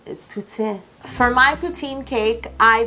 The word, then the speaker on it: poutine: I believe the proper pronunciation is poutine.